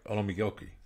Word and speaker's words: Olamigoke: Today we're delighted to have our guest Glory Olamigoke. Did I pronounce it right? Olamigoke.